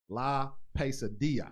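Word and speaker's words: La Pesadilla: So we have in the building David Lemus, La Pasadilla. Did I say that correct? Yeah, you said it right. I said it right. La Pasadilla, which means the nightmare.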